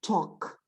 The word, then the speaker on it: talk: pronounced ock for example talk you pronounce wait wait wait a minute come on uh i talk you see the combination of a l k becomes oak work wok the same wok you use for cooking